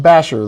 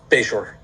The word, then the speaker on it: Bashore: Oh It's pronounced Basher though, right? Bashore.